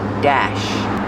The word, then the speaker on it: dash: Pronunciation, use the short A like black cat and apple. Dash.